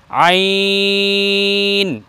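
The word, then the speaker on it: عين: তাহলে প্রথমটা পেলাম আইন, একটু চেপে বলতে হবে হলকের মধ্যখান থেকে আইন।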